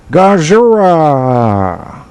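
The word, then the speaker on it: ゴジラ: I've been practicing this gajira oh no it's gajera one this Gaz yeah run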